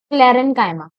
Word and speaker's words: sclerenchyma: ठीक है, फर्स्ट हो गया पैरेनकाइमा, second is कॉलिनकाइमा, and please don't pronounce it chyma. Some students pronounce it like chyma, but it's parenchyma, collenchyma, and the last one is sclerenchyma.